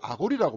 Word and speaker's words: 아간: 이끌고 아골골짜기로 가서 그러니까 아간을 아골이라고 발음한다 그랬잖아요.